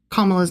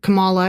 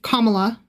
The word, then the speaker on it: Kamala: My dad was over and over again mispronouncing Kamala's name. Yeah. And every time he did, he would say it Kamala and I would say Kamala. Yeah. Like I wasn't being rude. I was just like Kamala.